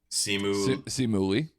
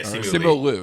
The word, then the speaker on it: Simu Liu: And I can never pronounce the guy's name. The guy from Shang-Chi and the Ten Rings. What's his name? Simu Lee. Yeah, Simu Liu, excuse me.